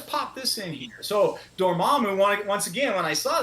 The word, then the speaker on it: Dormammu: How do you say it? Dormo? Dormammu. Yeah. Dormammu.